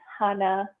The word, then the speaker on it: Hana: the correct pronunciation is hana see the close hanno with sort of a soft a exactly exactly hannah like